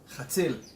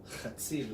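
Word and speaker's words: חציל: Chatzil. Chzil. Chatzil. It's H-A-T-Z-I-L. Chatzil. There you go. Chatzil. Yeah, you really need to spit out everything.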